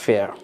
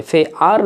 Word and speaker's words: fair: উচ্চারণ করবেন ফেয়া, ফেয়া, র সাউন্ডে না বললেও হবে, কারণ আমরা খেয়াল রাখবো ব্রিটিশ অ্যাকসেন্টে যদি কোনো ওয়ার্ডের মধ্যে আর থাকে এবং আরের ঠিক পূর্বের অক্ষরটি, ইমিডিয়েট পূর্বের অক্ষরটি যদি ভাওয়েল হয়, তাহলে আপনি ওই আরটিকে সাইলেন্ট করে দিবেন বলার সময়, ফে আর নয় ফেয়া, যেহেতু আরের আগে আয় আছে, ফেয়া।